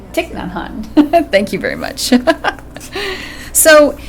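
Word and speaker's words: Thích Nhất Hạnh: And A Pebble for Your Pocket by that Buddhist monk whose name I can never pronounce. Thich Nhat Hanh. Thich Nhat Hanh.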